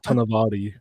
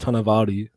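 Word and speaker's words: Tonowari: Polynesian culture, and generally in Polynesian culture, the W is like a V and an O is like a U. So as far as I know, it's Tonavary, but we'll see in December, guys, eh?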